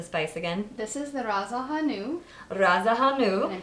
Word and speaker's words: Ras el hanout: Can you please pronounce the spice again? This is the Ras Al Hanout.